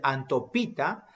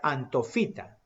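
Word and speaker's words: Anthophyta: Ese antofita, ese antopita, se pronuncia antofita.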